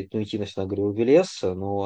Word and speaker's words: Велес: вот насильно там навязывать, насаждать ударение на второй слог. Илья, я думаю, это не такой принципиальный момент. В качестве полемического альтернативного мнения, ударение на первый слог – это немецкое влияние, потому что оно фиксированное. А в индоевропейской архаике ударение вообще произвольное и роли не играло.